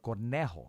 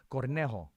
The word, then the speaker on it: Cornejo: we had uh marcelo cornejo i got to make sure i said right that's it right cornejo no because she corrected me cornejo i didn't say it